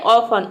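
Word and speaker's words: often: तो लिसन में देख सकते हैं ट का साउंड कहीं पे भी नहीं है, मतलब कि टी लेटर साइलेंट है। अगला वर्ड है ऑफन।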